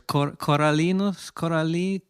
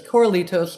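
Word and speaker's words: Corralitos: It's called, pardon me if I say it wrong, but it's Coralitos? Coralitos.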